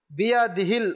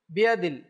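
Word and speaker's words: بيده: বিয়াদিহিল খৈর, বিয়াদিহিল খৈর, বিয়াদিহিল খৈর। বিয়াদিল অনেকে বিয়াদিল অনেক সময় হা উচ্চারণই করে না, অভ্যাস না করার কারণে, খেয়াল না করার কারণে।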